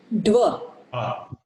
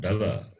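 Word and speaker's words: द्व: When you say Da, it is Dakara plus A. The vowel A is there. Anybody, how it is pronounced? Dva. Dva. Dva. It is Dva, not Dava.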